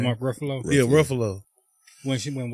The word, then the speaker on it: Ruffalo: I thought that was finna be Mark Garofalo. However you say his name. Mark Ruffalo.